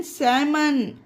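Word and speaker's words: salmon: बाम और देखिए example S ए एल एम ओ एन सैमन यह देखिए एम से पहले एल है तो इसे सैमन पढ़ा गया उसी तरह से ए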